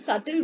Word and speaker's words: subtle: Then, what are the subtle ways? Here, B is silent in this word.